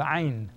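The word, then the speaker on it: ع: The next one is called ayn. This one that you're looking at is ayn, ayn. Contraction of your throat. Ayn, it's a glottal sound. Ayn, ah, ah. Ayn, ah. Ghain, ghain. Shaped just like ayn, but it has a dot above.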